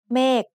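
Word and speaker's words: เมฆ: Mek is said with a falling tone because it has a low-class consonant with a dead syllable ending and a long vowel.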